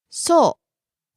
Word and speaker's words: そう: Next, そう that's right. Or, is that so? そうそう Falls on the second syllable u.